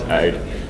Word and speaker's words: Aodh: I'm told the correct pronunciation is AID, which is the alarming service for OpenStack. So it can. For some reason, I thought it was an acronym. No, it's an Irish name.